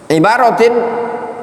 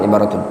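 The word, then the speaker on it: عبارةٍ: Ibaratin atau ibaratin an ahkamin fiqhiyah. Ulumul Quran itu mencakup apa? Itu bacanya ibarat. Ibaratin bukan ibaratun.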